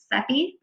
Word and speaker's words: Sepe: hi welcome to math seven i'm miss sepi i'm your student's math teacher um i put a pronunciation guide here for folks who weren't quite sure how to pronounce my name it's sepi uh we're gonna be talking today a little